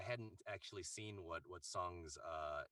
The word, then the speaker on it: Tseng: it's very interesting because song's character his character name is spelled t-s-e-n-g and then it's pronounced in the game song and then interestingly um